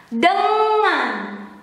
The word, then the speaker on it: dengan: Met with, and in Indonesian is dengan. The N and G here, it is similar when you have to pronounce singing, ringing, ing, ing, ing, ing, dengan.